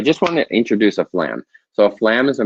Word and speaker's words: flam: on the drum flan now flam is a one syllable word what most students are going to do at the beginning is played as a two syllable lamb lamb it's one